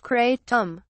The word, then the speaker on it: kratom: the leaf of a Southeast Asian plant kratom pronounced kratom is touted as an energizer potent pain reliever